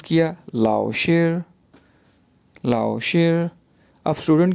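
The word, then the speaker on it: 老师: जैसे LAO लाओ, लाओ, SHI शेर, तो ये वर्ड बन गया लाओ शेर, लाओ शेर, लाओ शेर।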